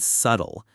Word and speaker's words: subtle: Yes, the word subtle. I kept forgetting how to say it, spell it, and don't even get me started on the silent B.